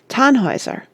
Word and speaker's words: Tannhäuser: Here is a list of the operas by Richard Wagner, with their names pronounced. The Fairies, 1833. Das Liebesverbot, 1836. Rienzi, 1842. The Flying Dutchman, 1842. Tannhäuser, 1845.